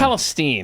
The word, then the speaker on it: Palestine: It's Palestine. That's what I thought. And the old man just went along with the reporter's mispronunciation.